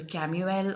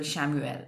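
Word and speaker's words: Chamuel: The third archangel is Archangel Camuel or Archangel Shamuel, the way, whichever way you want to pronounce.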